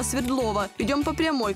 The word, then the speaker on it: Свердлова: светлого так нам сюда местные жители в названии делают ударение на букву е хотя свое имя улица получила в честь революционера якова свердлова идем по прямой к